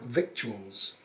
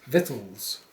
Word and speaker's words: victuals: i pronounce that word it looks like victuals but it's vittles yeah i thought you'd